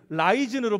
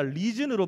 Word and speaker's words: risen: 라이즌으로 발음하는 게 아니라 리즌으로 발음하는 건데, 이거 말고 앞에 자막 리즌으로 발음하는 건데, 여러분 그가 일어나셨다라는 거예요.